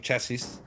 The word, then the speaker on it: chassis: was just a rolling chassis chassis do you say chassis will say chelsea memorial i think it's a silence just a silent s so uh someone i